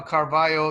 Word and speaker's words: Carvalho: sullivan and notice how carvalho is spelled with an lho instead of a double l and that is the way the portuguese uh pronounce it in spanish it would